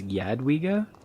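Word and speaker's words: Jadwiga: I help Yadwigga. Oh, it's Yadigga. It's like a soft J. been saying it wrong this whole time.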